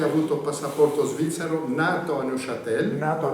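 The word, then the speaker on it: Neuchâtel: Nato a Noshatel. Nato a Neshatel.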